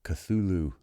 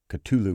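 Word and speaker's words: Cthulhu: interconnected Mythos called uh the uh cthulu Mythos or the uh culu Mythos however you pronounce it some people have heard both ways I think you just pick one um he frequently referenced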